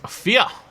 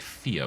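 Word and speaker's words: vier: German probably where is fear which is spelled v i e r but as the Germans told me on my jpog playthrough is pronounced more like fear with an F I believe well turn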